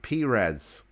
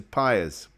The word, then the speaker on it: Perez: His name is pronounced Perez as opposed to Pyers.